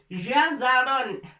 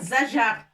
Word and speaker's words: جزر: Ça, on va faire l'effort pour prononcer jim et zai en même temps jazaron. Il ne faut pas dire zajar. Ça renverse le sens du mot.